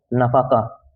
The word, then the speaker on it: nafaqah: Maintenance is also known as नफाका, spelling है NAFAQAH।